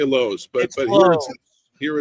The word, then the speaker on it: Lowe's: that's spelled l o w how is that pronounced right you don't say la do you you say Lowe's but but here it's loud y I don't